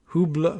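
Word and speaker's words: Hublot: $20,000 you can bet I don't know how to pronounce that hu b l o t are we giving it the French pronunciation $20,000 watch maybe it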